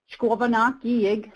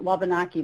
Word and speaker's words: Wabanaki: as it's known today, is Wabanaki, which means the people of the place where the sun first looks our way. We're the people of the dawn. And that's how you say it in our language, and it's been shortened and kind of anglicized to Wabanaki, but that is how we're known here today.